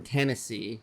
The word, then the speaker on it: Tennessee: Down in Tennessee, like it rhymes with Hennessy.